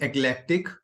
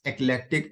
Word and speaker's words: eclectic: So when you are pronouncing this word, you can feel selective word because eclectic and selectic is kind of similar sounding word.